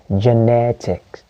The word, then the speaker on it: genetic: the word genetic okay he has an ic so i know the stress is on the surface on the syllable before the tic so the word becomes genetic okay genetic not genetics